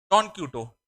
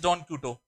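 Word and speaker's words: Don Quixote: इसका प्रोनाउंसिएशन अलग है क्योंकि ये जो बुक जो थी ये दूसरी लैंग्वेज, बाद में इंग्लिश में लिखी गई थी। इसको हम जो ओरिजिनल लैंग्वेज में लिखी गई थी उसी के प्रोनाउंसिएशन को पढ़ते हैं।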